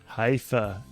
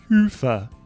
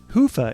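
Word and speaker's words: Hyvä: Commerce is sponsored by hia or as the Europeans say HOA or the right way to say it hufa is rapidly becoming the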